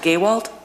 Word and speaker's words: Gowalt: My second question is that the change order itself indicates that, and is it pronounced Gowalt? Gowalt, that's correct.